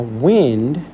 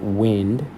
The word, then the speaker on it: wind: Now wind. When you pronounce it wind, it doesn't rhyme with anything before it. But it kind of looks like it should rhyme with the word mind, behind and hind, right?